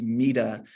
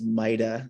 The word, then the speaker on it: Maida: I always want to make sure I get that correct because pretty much everyone says my last name is Mita. So for those of you that don't know, mine is Maida.